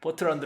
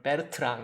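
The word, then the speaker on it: Bertrand: 프로로서 더라구요 그래서 입 버트런드 라고 발음한 건 제가 무식의 소치 어떤 것 같애 아 포로 식으로 발음을 해 주면 베르트랑 이 되겠죠 베르트랑 이 될 텐데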